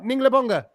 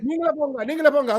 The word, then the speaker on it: Ningala Ponga: Did I say it right? Ninglebonga. Ningale Ponga. Yeah, you're right. Ningala Ponga.